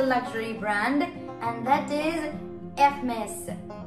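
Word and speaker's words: Hermès: again is a luxury brand and that is FMS remember in French we do not pronounce the edge it is always silent and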